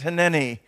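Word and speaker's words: הִנֵּנִי: In the Hebrew language, it's pronounced hineni.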